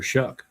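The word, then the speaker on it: Shough: But Tyler Shuck, I thought given a full season last year, he came on late.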